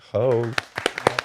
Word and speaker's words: Hogue: You actually just said that your last name is pronounced just like Vogue, but with an H.